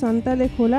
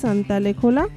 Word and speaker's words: Suntalekhola: তাই সুলতান খোলা সেটাই মনে হয় প্রোনাউন্সিয়েশনটা হয়ে গেছে সান্তালেখোলা বা সুনতালে খোলা।